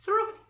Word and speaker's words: through: O, U, G, H, esta O, U se pronuncia U y esta G, H no se pronuncia, pronunciamos through.